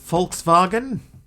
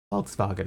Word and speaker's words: Volkswagen: that all right I believe in Germany it's pronounced Volkswagen I knew there was